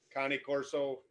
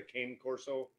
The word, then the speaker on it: Cane Corso: got an 82 pound cane corso connie corso is the pr correct pronunciation but everybody knows it is a cane corso italian mastiff so he's